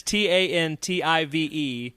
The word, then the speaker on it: Tantive: It's t a n t i ve. Yeah. Schuma Joe. Um, so tantive. Tantive. Tantive is what it looks like. I always say tantiv.